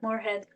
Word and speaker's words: Moorhead: Poet Marjorie Morehead. Is that the correct pronunciation? Yeah. Morehead.